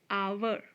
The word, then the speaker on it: hour: onion onion or number eight hour our h-o-u-r-h is again silent here so now again